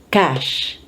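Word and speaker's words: cache: Again, French influence, silent T. And the CH is SH. Cash.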